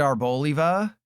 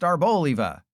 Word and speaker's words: Arboliva: I wish it was Arboliva because it's an olive, but according to the company that made this, it is pronounced Arboliva.